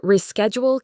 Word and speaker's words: reschedule: I need a The word reschedule can be tricky. The re part is stressed. R E schedule. The shush sounds like sk re asked jewel.